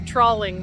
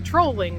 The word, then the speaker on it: trolling: It's not a trollling motor. It is a trolling motor. Trolling like what you do online.